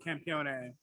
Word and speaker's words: campione: the end but um the italians do pronounce the e yeah is italian for